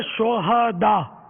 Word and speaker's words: شہداء: یہ صحیح تلفظ ہے شہداء. صحیح. ہاں پر زبر آئے گا. شہید کی جمع ہے شہداء. شہداء ہاں کو ساکن پڑھنا جو ہے نا یہ اس کے معنی بدل جاتے ہیں.